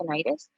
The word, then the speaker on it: tinnitus: farm is something called tinnitus. You may hear this pronounced tinnitus as well. You can say it either way.